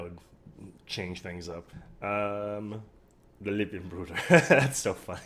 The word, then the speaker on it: Lippenbrüder: How do you say brothers? German. Lippenbruder. Holy shit, I got it right.